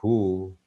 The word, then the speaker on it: who: But when the vowel, after WH we use the vowel O, then H is pronounced. Who, whom, whose.